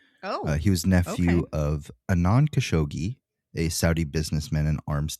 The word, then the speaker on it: Khashoggi: I've also heard it pronounced Khashoggi. I'm going to call him Khashoggi because it's the easiest for me to pronounce.